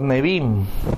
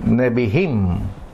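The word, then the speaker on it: Nevi'im: Después vienen los Nevim, o la pronunciación correcta, estuve investigando, Nevihim, los profetas.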